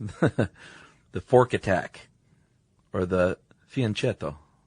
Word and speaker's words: fianchetto: Or the fianchetto. chetto C H in Italian makes a kiss sound. fianchetto Yeah. Okay. C and then a vowel makes a ch sound. fianchetto Yeah.